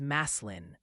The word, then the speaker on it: Massillon: And Massillon is Maslin.